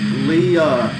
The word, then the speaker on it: Leia: Well, it's spelled Leia with the I. In my class, same thing. They all order Leia. She's like, it's Leah.